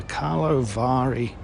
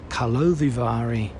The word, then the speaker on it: Karlovy Vary: first evening of the opening ceremony of the Carlo Vari Kalovari. There you go. That's how you pronounce it.